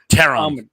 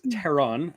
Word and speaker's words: Theron: like she can play teron by the way is it teron really is that how it's pronounced it's it's that um Germanic hard th uh that makes sense like theander tall sorry no that's fine